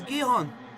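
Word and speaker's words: Gijón: that's what they're called sporting gihon that's how we pronounce it it's gihon so it's not that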